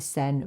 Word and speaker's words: Seine: I think it's pronounced Seine. If it's anything like the Seine River in France, then it's Seine.